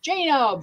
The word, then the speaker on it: Jano: Pronounced Jano. Birth name is Jane.